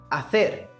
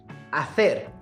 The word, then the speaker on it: hacer: fosse falar essa palavra, ele iria dizer hacer. Hacer. Tá vendo? Com a língua entre os dentes.